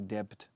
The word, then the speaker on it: debt: La B es muda en esta palabra, por favor. Debt. Se escribe debt, pero se pronuncia debt.